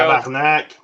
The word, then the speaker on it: tabarnak: we had a how do you say it in French, Joe? Tabernacle with the intro. Tabarnak.